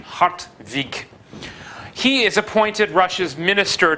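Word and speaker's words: Hartwig: probably like an n hot week I suppose you could also spell it with a V if you want to get the right pronunciation hot week he is appointed Russia's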